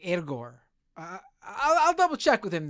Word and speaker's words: Egor: It's like it's not Igor. It's like Egor.